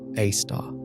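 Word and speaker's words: Sagittarius A*: At its very heart lies Sagittarius A, pronounced Aar, a super massive black hole with a mass 4 million times that of our sun.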